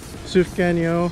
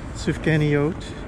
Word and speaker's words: Sufganiyot: So we got like 10 Sufganiyot. I don't think that's quite right. Sufganiyot. Yes, there you go.